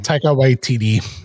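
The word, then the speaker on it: Taika Waititi: Tiger White TD.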